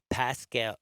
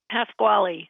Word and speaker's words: Pasquale: And again, I'm talking with Pascal. No, it's three syllables. Say it. Pasquale.